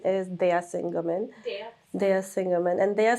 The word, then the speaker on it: Daya Singh Ghuman: Well, the pronunciation is Daya Singh Ghuman.